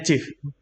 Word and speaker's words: GIF: Oh, GIF bacanya GIF.